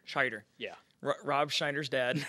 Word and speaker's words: Scheider: I do want to talk about the cast because we got Rory Schneider. Is that how you say it? Scheider.